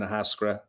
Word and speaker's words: Ahascragh: We're at the moment we're bonders, we're finishers, we're blenders, we're bottlers in Ahascragh, and you did pronounce it right, Matt.